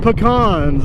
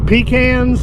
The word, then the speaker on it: pecan: out the fact that not all of us pronounce pecan the same way. In Texas we eat pecans. I think in North Carolina it's pecans, something like that.